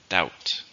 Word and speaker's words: doubt: a noun and it's one syllable doubt doubt you notice the B there's no B it's just doubt do you think he'll actually